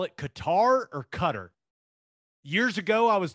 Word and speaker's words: Qatar: years ago i was told it's cutter but i feel like on espn they keep saying qatar so i i don't know what to do i'm gonna go with qatar just because i mean it's spelled with a q in an a so what what are we calling it what's the kind i call it qatar okay let's go with that i think maybe it's supposed to be cut but i sound like